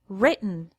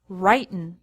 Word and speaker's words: written: risen write wrote written notice the pronunciation change we say written not writin past with II W